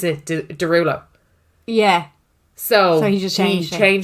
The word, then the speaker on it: Derulo: But it's how you pronounce it, Derulo.